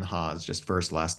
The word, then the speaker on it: Haas: like that you said it's like the car and haas like the avocado it tickled me so